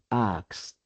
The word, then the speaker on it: asked: En pasado simple sonaría asked asked con lat porque es un verbo no sonor.